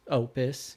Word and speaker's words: Opus: It's Opus.